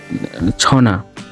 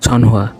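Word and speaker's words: 전화: এ টাইপের, কিন্তু আপনারা কোরিয়ান প্রোনাউন্সিয়েশনের ক্ষেত্রে উচ্চারণ হবে ছনা, কিন্তু অনেকে পড়বে ছনহোয়া।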